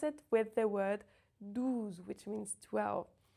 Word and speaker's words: douze: it with the word douze, which means 12. Douze makes the sound OU rounded, and deux is the E sound. Can you hear the difference?